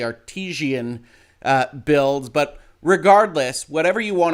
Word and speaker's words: Artesian Builds: up to me as me mispronouncing as artisan builds and is actually artesian builds but regardless whatever you